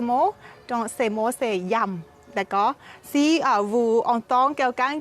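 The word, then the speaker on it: yum: Et la salade épicée, le mot thaï, il s'appelle yam. D'accord? Yam. Y-U-M. On écrit comme ça, yam. Et on prononce yam.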